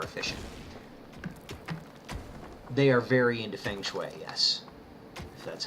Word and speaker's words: feng shui: make it more efficient they are very into feng shui yes that's how you pronounce that thankfully I have written down I've